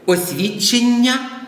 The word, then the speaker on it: освідчення: обдурити освідчення і освідчення підкреслюю освідчення наголос на останньому складі і освідчення освідчення -